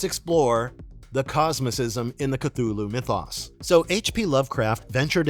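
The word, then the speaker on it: Cthulhu: gods and ancient beings the name cthulu itself Lovecraft noted is meant to sound utterly inhuman with the closest pronunciation being kulalu these entities unlike traditional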